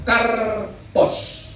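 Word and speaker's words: καρπός: Bahasa Yunani itu namanya karpos. Karpos. Karpos. Ingat-ingat karpus. Ini kar bukan kardus ya.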